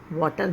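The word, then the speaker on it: water: वाटर नहीं, R इसमें silent होता है. The word is pronounced as वाटर, वाटर. R की साउंड बहुत छोटी, बहुत कम निकलती है.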